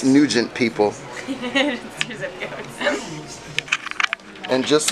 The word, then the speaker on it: Nugent: and you g-e n-t not to be mispronounced as new when it's nugent people and just like